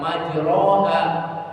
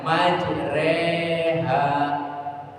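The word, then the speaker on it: مجراها: Tapi kalau orang yang sudah tahu maka bacanya tidak majroha. Dia bacanya majreha. Bacanya imalah. Imalah artinya miring. Memiringkan fathah itu di atas, kasrah itu di bawah. Sedangkan imalah itu dimiringkan tidak di atas dan tidak di bawah. Jadi bunyinya e bukan a bukan juga i.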